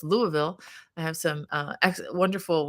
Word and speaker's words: Louisville: I said it right I know it's not Lewisville it's Louisville I have some uh